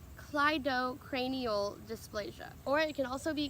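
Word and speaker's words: cleidocranial dysplasia: the CCD kind of cranial dysplasia it is pronounced Clyde Oh cranial dysplasia or it can also be Claro cranial dis ptosis but the more popular way that people say is colloidal cranial dysplasia I think there's another word out there after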